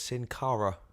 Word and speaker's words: Sin Cara: noir so therefore it's Sin Cara okay or just think of Cara Delevingne or just think that